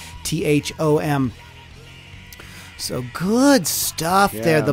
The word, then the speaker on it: Sandi Thom: When you guys are going to listen to Sandi Thom. Last week I said her name wrong.